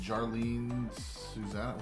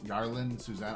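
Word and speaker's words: Yarlin Susana: That is the Jarlene Susanna. What is that? Jarlene Susanna? Here you go, Rosie. That Jarlene rhymes with Bonana. Yarlin Susanna. I don't know who that is.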